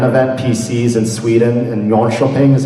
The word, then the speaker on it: Jönköping: as a LAN event, PCs in Sweden, and Jönköping is how you say it.